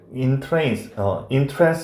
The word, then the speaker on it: entrance: 근데 여기는 동사로 써서 entrance 이렇게 발음해야 돼.